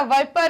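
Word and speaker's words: Vipera: है, बैंगरस, क्रेट और विपेरा, ठीक है, या वाइपर या वाइपर, जिस भी तरीके से इसको प्रोनाउंसिएट करना चाहो, ठीक है, विपर बोलते हैं या वाइपर बोलते हैं, ठीक है, विपेरा, ठीक,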